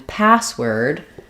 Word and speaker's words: password: stress on both syllables primary stress on the first syllable or first word secondary stress on the second syllable or second word so in password my a sound is going to be longer and held I'm still going to